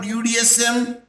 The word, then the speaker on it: UDSM: acronym okay what about udsm you are not present as a one word Buddhism beautiful University of Dar es Salaam but you will pronounce as u d s m means separate letters which is pronounced at